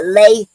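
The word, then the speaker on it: lai: This is called a lay poetic form and lei is spelled l ai.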